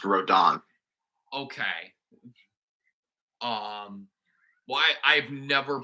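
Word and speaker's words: Rodin: Roden when it's pronounced rodon okay um why I've never played bayetta so I've played a bit of it and you know that's how Sakurai pronounces it so oh okay um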